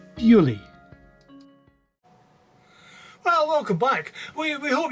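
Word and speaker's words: Beauly: scenery of the area she is said to have described it in french as bo lieu meaning beautiful place which has over the years come to be pronounced as purely well welcome back we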